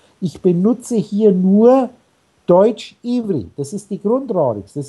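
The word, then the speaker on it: עברי: Die Hebräer selber wird ja Ivri ausgesprochen. Da kannst du schön nachschauen.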